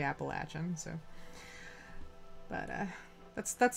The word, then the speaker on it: Appalachian: was in school uh we we used to pronounce it appellation because I'm not from here um which I I learned is wrong so it's actually Appalachian so but uh that's